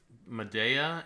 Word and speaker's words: Madea: Greek or something but there's a modern character played Madea is how you're supposed to say it I think for referring to the